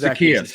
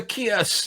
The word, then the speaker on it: Zaccheaus: And try to put the speedier guy Olamide, the bigger, either Gage or I can't pronounce it. Zaccheaus, you said? We're going to go with Zaccheaus.